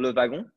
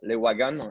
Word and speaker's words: Le Wagon: of the company called le vagrant or le wagon like the americans say and so we are